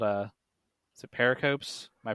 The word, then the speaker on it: pericopes: So pericopes.